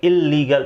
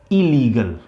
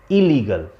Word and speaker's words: illegal: देखिए, ये इलीगल नहीं होता. कहने का मतलब है कि लीगल ऐसे इसका प्रोनाउंसिएशन नहीं होता. दो बार ला नहीं आता है. हम केवल इसको पढ़ेंगे इलीगल. भले ही डबल L है लेकिन हम लोग दो बार L नहीं पढ़ते.